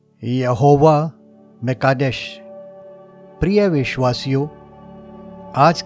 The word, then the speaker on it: यहोवा म'कादेश: आयत आठ को लेंगे इस नाम का उच्चारण यहोवा कादेश यहोवा म कादेश करके किया जाता है इसके नजदीक की भाषा में हम इसका उच्चारण यहोवा मुकद्दस से भी कर सकते हैं यहोवा शब्द का सरल